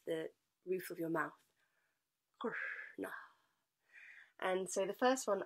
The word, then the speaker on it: Kṛṣṇa: Kṛṣṇa is the name of this particular energetic expression of life. And the way we pronounce this word, if we look at the